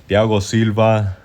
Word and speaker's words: Thiago Silva: Thiago Silv Thiago Silva Thiago Silva Thiago Silv I'm pretty sure that's how you say it in Portuguese.